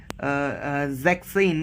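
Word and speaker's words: sechzehn: 16 और 17 में हम जब लिख रहे थे जैक्सिन को, तो उसमें हम जो एस हैं वो हटा रहे हैं, उसको हम ऐसे लिखते हैं ज़ैक्सेन, दिस इज 16, एंड फॉर 17 जिपसेन, ठीक है।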